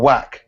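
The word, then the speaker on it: Wach: Also, you're pronouncing it wrong. Or Whack, Marius Vac. No, it's Vac, I think.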